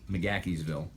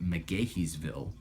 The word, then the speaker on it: McGaheysville: pronounce the macaque evil with a very distinct K sound in there and there's an interesting little story behind that I'm told it the easy thing the story basically goes that that town mcgaheysville intentionally mispronounced the name